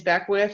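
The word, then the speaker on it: Beckwith: my last name is back with and it literally sounds like the way you spell it b ec k wi th okay in the next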